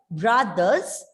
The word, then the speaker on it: brothers: And as the word ends with the letter R, it is silent, right? Brothers and sisters.